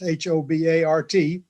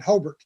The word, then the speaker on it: Hobart: along the way uh we started calling it hobert it's it's a rural